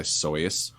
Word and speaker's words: Seuss: So what Seuss next? actually originally went by Soyce. soy sauce. Soyce. He changed Soy it sauce. to rhyme with rejoice.